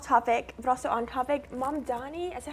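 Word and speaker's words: Mamdani: Mom Donnie, is that how you pronounce it?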